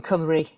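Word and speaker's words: Cymru: I forgot to mention I'm in Camry. That's how you say it.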